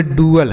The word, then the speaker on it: dual: Spelling याद है, रखिएगा। आगे DUAL और DUEL। तो DUAL इसे हम पढ़ेंगे डुअल।